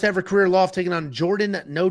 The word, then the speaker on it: Jourdain: Next up, at UFC Vancouver, we have Danny Barlow taking on Jourdain with a silent D, Santos.